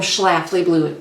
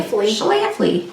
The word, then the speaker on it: Schlafly: And while we do this tag, we are going to be drinking Apollo's Orbit, which is a black lager from Schlafly Brewing Company.